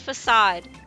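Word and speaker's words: façade: It's facade. It's like, you never know if the C is a hard C or a soft C.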